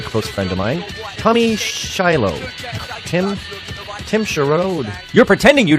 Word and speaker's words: Shillue: Today, we're with a very, very close friend of mine, Tommy Shillue. Tim Sherrod. You're pretending you don't know. It's Shillue. Shillue.